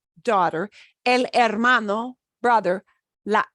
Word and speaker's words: hermano: would call them El hermano e la hermana si is and notice with these words that start with h we don't pronounce the h the H is silent daughter El hermano Brother LA hermana sister